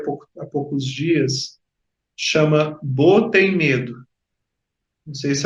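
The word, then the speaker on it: Beau: Eu vi há pouco, há poucos dias, chama Bo tem Medo. Não sei se alguém aí já viu. Bo é é um nome francês que se escreve assim, B e A U.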